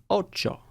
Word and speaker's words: Ocho: Hardcore Hotline Miami fans need to play Ocho. And yes, that's how you pronounce this dumb name, Ocho.